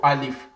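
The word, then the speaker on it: ألف: the English equivalent of alif is something like father when you say father for example is the English equivalent of al if because when you give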